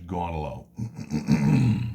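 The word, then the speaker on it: Gaunilo: by the name of Gunny low gone low it's usually just crassly pronounced in English gone alone and gone Allah says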